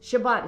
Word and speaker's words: Shabbat: Shabbat is how you say it in Hebrew.